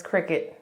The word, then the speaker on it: Cricut: I forgot how I found out, but I found out on my own that it's not Cricut, it's Cricut. And it is not spelled like Cricket the bug.